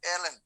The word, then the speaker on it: ln: এটা কিন্তু লন না, মূল প্রোনাউন্সিয়েশনটা হচ্ছে ln।